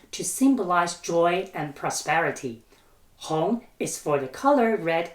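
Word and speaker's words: 红: symbolize joy and prosperity Hong is for the color red itself and is used as an adjective the pronounciation Hong sounds like Hong in Hong Kong so you can think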